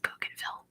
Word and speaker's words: Bougainville: It's pronounced Bougainville.